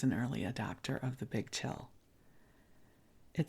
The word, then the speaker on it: Bigg Chill: Los Angeles called the Bigg Chill. Big is spelled with 2 G's, B-I-G-G, Chill.